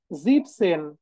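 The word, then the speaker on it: siebzehn: হচ্ছে এখানে খেয়াল করেন জিপসেন জিপসেন জিপসেন জিপসেন জিপসেন ওকে এটাও কিন্তু ডিফারেন্ট সেটা কি দেখেন আমরা সেভেন কে কি বলি জিবেন বলি তো জিভেন সেভেন কে কি বলি জিবেন বলি না এই যে দেখেন এখানে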